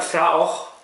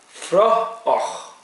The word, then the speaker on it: Fraoch: There's a pronunciation guide on here. Not Fraoch. It's pronounced like a F-R-U and then och. Fraoch.